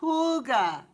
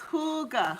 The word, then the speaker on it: hygge: plant out till late may yeah hygge yes hooga yes welcome hugo homestead i was trying to remember the pronunciation yeah that's yes hygge hygge let me write that down so i remember